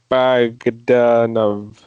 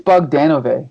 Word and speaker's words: Bogdanove: And this cover is drawn by John Bogdanove. I think it's Bogdanove. I think. I can never say his name because I always want to say Bogdanovich, like the director.